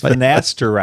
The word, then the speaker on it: finasteride: All right, the next one is finasteride or finasteride. Oh, shoot. That's what it is. Finasteride like it's spelled.